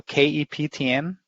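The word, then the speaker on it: Keptn: at that yeah so it is spelled captain dot uh so ke ptn it's the german phonetic of a captain so kep tn and you'll find it on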